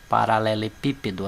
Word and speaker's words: paralelepípedo: seria uma dessas daqui veja que ela é aqui ó é a é a anti penúltima sílaba ó paralelepípedo a sílaba tônica é